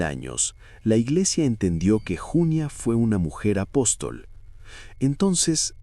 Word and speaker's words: Junia: El nombre Junia, en femenino, llevaba el acento en la primera sílaba.